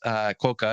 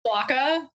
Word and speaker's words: quokka: And Quoka, if you're not familiar, is the world's happiest animal that exists in Australia. Right, Kelly? Yes, only in Australia. It's actually pronounced Quokka.